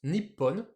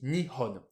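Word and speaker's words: 日本: Et puis on va avoir une autre lecture qui est aussi Nihon. On a deux lectures, alors ça c'est un peu particulier. On verra que par moment on a plusieurs lectures possibles en fait. Ici, c'est juste que le Nichi, hein, du kanji du soleil, bah, on va juste prendre le Ni. Du coup, Ni plus Hon, Nihon.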